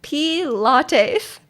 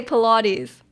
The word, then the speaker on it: Pilates: That's how you pronounce Pilates. I would said P lattes. No, I would say Pilates, you know.